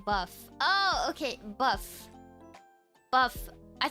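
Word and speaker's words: bœuf: Boof bourguignon. Boof. Bourguignon. Bourguignon. What do you mean, Blair? Or tartiflette. Bourguignon. The first word is just pronounced buff.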